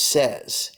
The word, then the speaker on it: says: when we go into the third person the pronunciation is says he says she says it says if you